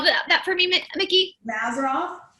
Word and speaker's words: Mazzaroth: Will you spell that for me, Miki? Mazzaroth.